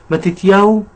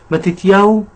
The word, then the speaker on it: מתתיהו: Então, vamos ver como se pronuncia o nome Mateus em hebraico lá em Israel? ולקחת את מקום הקדוש הזה ולהשתלט עליו. מתתיהו וחמשת בניו.